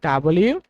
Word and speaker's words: W: ওকে মজার তথ্য ফোরে লক্ষ্য করো সেটা হচ্ছে আমরা যাকে ডাবল বলি ডাবল ইউ এটাকে উচ্চারণ করতে হবে ডাবল ইউ যে ইউটা রয়েছে